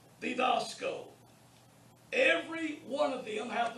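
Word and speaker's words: διδάσκω: All right, the next one is didasko. Notice the accent is on the alpha. It isn't on the iota, didasko. It's on the alpha. That shows you how to pronounce it.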